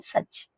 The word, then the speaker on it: such: पहले आप इसकी जो प्रोनाउंसिएशन है वो उसको हम सक नहीं कहेंगे। तो इसकी जो हमारी देखिए प्रोनाउंसिएशन हमारी इसकी होगी सच। ओके, सो जस्ट वेट, ये हमारी सच होगी, नॉट सक। ओके, आप इसको सक नहीं कहेंगे। That the correct pronunciation is सच।